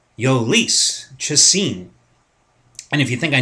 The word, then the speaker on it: Jhoulys Chacin: because he's a pain in the ass to pronounce his name. Ready? Ready for this, guys? It is going to be Jhoulys Chacin. Jhoulys Chacin.